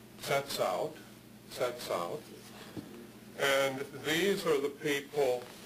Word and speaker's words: Tsetsaut: And then there's another group of Athabascan-speaking people who in English, their name is spelled this way and is pronounced in English as Tsetsaut.